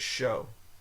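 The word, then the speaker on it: chaud: says to pronounce it show sh Show so it's O but it's pronounced C it's spelled c h a u d you think that'd be CH child it's a child but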